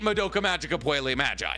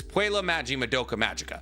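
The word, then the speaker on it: Puella Magi Madoka Magica: list please make it Moka magika P Magi wait it's p wait it's Pua Magi Moka Maga I've been saying it wrong the entire video my bad like I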